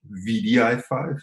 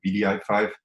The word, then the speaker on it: wdi5: playing the ball um about vdi5 it's not wdi5 because nobody can pronounce the w all the time so we decided to pronounce it bdi5 and as sabine already